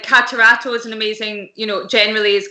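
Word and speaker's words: Catarratto: Catarato. Thank you. Catarato.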